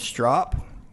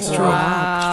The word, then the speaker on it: Strop: I'm doing good, but I'm going to tell you, my name's Strop. So if you drop by for a beer sometime, you'll never forget the way to pronounce it. I said Strop.